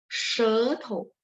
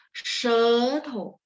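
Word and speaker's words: 舌头: Jadi shethou, kalau SHE itu ya, itu bacanya A, O, E, she nada 1, she nada 2, E-nya kencang ya, shethou.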